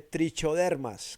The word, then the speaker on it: Trichoderma: Tricodermas que se escribe trichodermas como como con che, ¿listo?